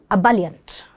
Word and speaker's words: ebullient: The word is ebullient. Ebullient. And here is its pronunciation.